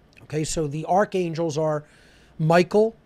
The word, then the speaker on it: Michael: Okay, so the archangels are Michael, or if we're pronouncing it the ancient way, Mikael, right?